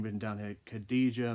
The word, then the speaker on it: Khadija: name written down here khadijah Mela I'm sorry if I mispronounced that Khadija that's how you pronounced it but congrats to